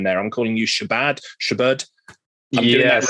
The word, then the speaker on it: Shabad: into that but no it's pronounced Shabad which is a very very flat unemphasized version of that word yeah well wonderful thank